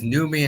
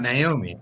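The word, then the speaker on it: Noomi: It is Numei and not Naomi.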